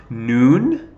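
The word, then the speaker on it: נ: so mem so feet noon that's the n sound noon so feet okay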